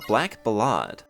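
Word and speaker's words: Black Ballade: Over in the bamboo grove only, we have a good chance of encountering a black balad. I I know that's how it's pronounced, but I hate it. I'm calling it a black ballad.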